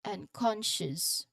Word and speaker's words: unconscious: The consonant cluster sh sound in the in in the word ship. For example, it is followed by a very soft almost swallowed us sound as sh. It's almost swallowed because it's very soft and quick. So this word is unconscious.